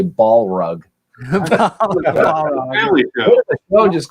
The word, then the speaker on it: Balrog: Balrog, right? Is that how you pronounce that? Balrog. Balrog.